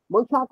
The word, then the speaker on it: বৈশাখ: আর মূর্ধন্য শকে খ বলা, বৈশাখ, বৈশাখ, মূর্ধন্য স লিখছে কিন্তু বলবে বৈশাখ।